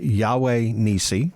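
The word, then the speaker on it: Yahweh Nissi: The Yahweh Nisi.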